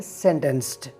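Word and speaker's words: sentenced: Verb सेंटेंस की second और third form को प्रोनाउंस करते हुए इसके आखिर में आपने टी की आवाज़ निकालनी है सेंटेंस्ड।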